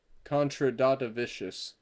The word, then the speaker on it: Kondratavicius: Mantas contra Kondratavicius versus Antonio Tricoli. I'm taking Mantas. So the trick with those names is you got to pronounce them like you're a diesel trying to start in negative 40-degree weather.